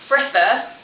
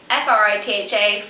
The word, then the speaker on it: Fritha: So it's pronounced Fritha, so F-R-I-T-H-A, Fritha. A lot of people seem to pronounce it wrong.